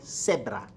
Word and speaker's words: cebra: Concha muy bien now la cebra see in front of it gives you an S sound okay zebra zebra is not las zebra because there is no Z sound and we're back to